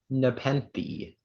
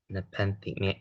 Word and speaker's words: nepenthe: Speller 17, your word is nepenthe.